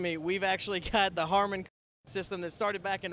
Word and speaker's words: Harman: As you can hear behind me, we've actually got the Harman system that started back in August of 2010.